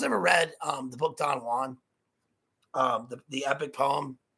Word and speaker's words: Don Juan: that it's actually pronounced don juan right because it right because of the rhyming couplet within the poem but connotation denotation and